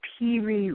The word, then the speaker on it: Piri: And this has come to be known as the Piri Reis map.